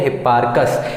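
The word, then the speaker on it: Hipparchus: कहीं न कहीं उनका हिप्पार्कस ऐसा कहा जाता है। लेकिन सही उच्चारण क्या हिप्पार्कस .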